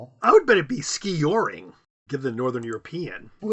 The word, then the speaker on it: skijoring: The word is skijoring. Skijoring. And that's how it's pronounced skijoring? Yes, emphasis on the first syllable. I would bet it'd be skee-yoring given the northern European.